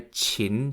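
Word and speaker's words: qin: and waited as two orderlies brought him a chin to play chin is spelt q-i-n and it is an ancient chinese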